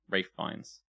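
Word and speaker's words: Ralph Fiennes: the right angle Bradley Cooper and Ralph fines Rafe finds yeah why is he wfe ask his parents that's not how it's spelled is it no it's Ralph it is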